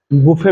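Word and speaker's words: buffet: পাই সেটা হচ্ছে আমাদের বুফে ব্রেকফাস্ট বুফে বানানটা আসলে বাফেট বি U double F ই টি বাফেট কিন্তু উচ্চারণ হবে বুফে বুফে ব্রেকফাস্ট এর বাংলা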